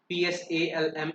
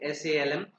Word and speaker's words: Psalm: This word Psalm is pronounced as Psalm. Here P is silent, so we will pronounce it Salm, Psalm.